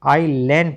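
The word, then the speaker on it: isle: आई लेन पढ़ेंगे। आई एस एल ई टी आई लेट। आई एस एल ई आईल अब देख लो टी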